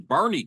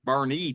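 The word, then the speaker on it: Boerne: r uh NE and I thought it was burn Texas but it's Bernie Texas you know or Bourn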